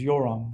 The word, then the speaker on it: Yoram: And I'm like, it's Yuram. Nobody can pronounce it.